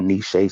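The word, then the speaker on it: Nechez: support them right so we got nishay sweets and that's spelled n e c h e z sweets s-w-e-e-t with a z and you can find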